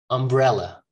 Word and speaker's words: umbrella: please help me here umbrella ella ella not ah it's not umbrella okay umbrella umbrella information infer